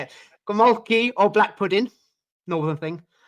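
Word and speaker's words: gołąbki: Golmaki. See, I can't say it. Golmaki or black pudding?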